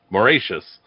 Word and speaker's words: Mauritius: All right, Megan, which flightless bird made a particularly tasty snack for Dutch sailors on the island of Mauritius? Sorry. I even phonetically wrote it and I still said it wrong.